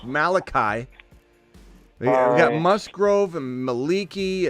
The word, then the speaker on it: Malachi: on this channel bro it's not Malik Cory it's Malachi we got Musgrove and